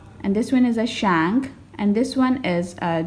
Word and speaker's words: Shang: So the correct pronunciation of these Chinese dynasties are, this one is a Chia, and this one is a Shang, and this one is a Zhou, this one is a Qin, and this one is a Han.